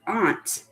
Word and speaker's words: aunt: Zoey is so right we have aunt which a lot of people say aunt or an uncle but it's really aunt and uncle can anyone